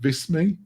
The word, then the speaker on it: Visme: And oh God, how do you pronounce it? Visme?